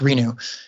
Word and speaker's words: RENU: R-E-N-U is the name of their company, and they're great. R-E-N-U? Yeah. Okay. They're pronounced Renew.